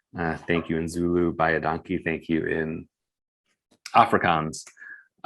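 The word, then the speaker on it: baie dankie: Bayadanki, thank you in Afrikaans.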